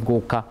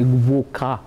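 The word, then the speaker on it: gwoka: begin but there's also very traditional music called guruka that is making a comeback and they laugh at me about my pronunciation of goku because they because it's g-w-o-k-a and i'm supposed to say voca and i don't pronounce it very well i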